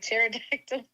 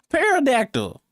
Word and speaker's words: pterodactyl: Pterodactyl. You the P is silent. And you been knew that? Oh, yes. They taught us in school. How did you say it? Parodactyl.